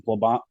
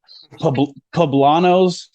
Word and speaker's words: poblanos: on there I'll go out and get some phlebot ah man that's a fine I didn't pronounce that right poblanos uh you blend those up a bunch of